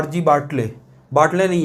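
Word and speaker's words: Bartle: बाटल जो है ना, इसको बाटले भी बहुत जन बोलता है, बट ये गलत स्पेलिंग है, इसको बाटले नहीं पढ़ना है। जैसे लिटिल होता है ना, लिटिल को हम लोग क्या लिटिले पढ़ते हैं क्या, तो ये बाटल है, ठीक है, RG बाटल, ठीक है।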